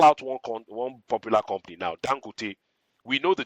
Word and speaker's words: Dangote: You hear it, Dangote, and you're like, okay, Dangote, with some kind of phonetic and with some, inflection going up. We know that that's not the pronunciation of the word, but then again, the